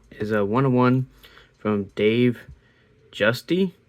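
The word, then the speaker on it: Giusti: 101 from Dave Justy, I believe is how you say his last name. I used to think it was um goosey, but um I've primarily heard it called gusty or whatever I said the first time um is what I've heard the most.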